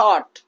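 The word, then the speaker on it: thought: Silent हो जाएगा। थॉट।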